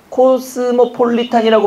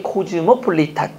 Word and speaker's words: 코즈모폴리탄: 코스모폴리탄이라고 발음하는데 코즈모폴리탄.